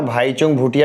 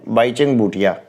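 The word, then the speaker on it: Bhaichung Bhutia: किसी भी विदेशी फुटबॉल क्लब के लिए खेलने वाला प्रथम भारतीय खिलाड़ी बाईचुंग भूटिया। कई लोग ना भाईचुंग भूटिया भी बोलते हैं, लेकिन ये ज़्यादा सही प्रोनाउंसिएशन है, बाईचुंग भूटिया।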